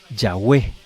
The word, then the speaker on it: Yahweh: o sea, a YHWH, las vocales que tenía la palabra Adonai y Elohim para dar a entender este nombre, Yahweh.